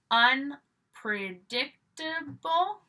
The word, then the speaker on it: unpredictable: un are, and remember, you're always going to stress the prefix. Got another couple of E's here that are not pronounced at the end, okay? So we have unpredictable, unpredictable.